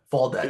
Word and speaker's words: Faldet: But yeah, fall debt is how you Yeah. pronounce it. It's like that actor, Timothy Chalamet. Like he's got the T on the end.